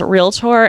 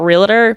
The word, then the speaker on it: Realtor: The only reason why I know that it's pronounced realtor and not realer because I couldn't apparently